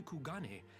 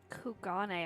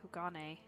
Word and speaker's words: Kugane: soldiers were dispatched to kugani to investigate recent sightings of a certain individual kugane I've been saying it wrong this whole time kugane the late acting Imperial